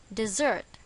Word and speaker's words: dessert: dessert for tonight's dinner where is the stress in this word on the second syllable dessert